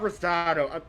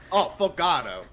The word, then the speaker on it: Fogado: It's not Rosado. Fogado.